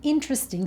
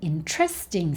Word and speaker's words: interesting: We don't say, "Oh, that's an interesting story." So we need to make sure that we're putting the stress on the right syllable, that we're putting the stress on the correct part of the word.